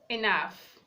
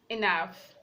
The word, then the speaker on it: enough: is making the sound we have off off enough enough the G edge is making the sound of